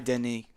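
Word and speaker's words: Denneny: Yeah, it's Cy Denny.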